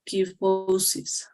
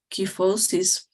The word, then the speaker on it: kyphosis: In Spanish, we say kyphosis. Mm-hmm. In English, you said kyphosis. Oh, so you pronounce like key. Yep, kyphosis. Okay, that was my question because I didn't know it was like how to pronounce the K.